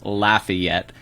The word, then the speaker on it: Lafayette: living in places like lafayette um sorry laffy yet as the locals say it and uh new orleans